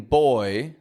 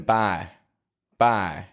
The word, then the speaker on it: boy: of sound oi now a lot of people don't move their lips enough when they pronounce this word and instead of saying boy they'll just go boy boy or boy or even by by we can overcome that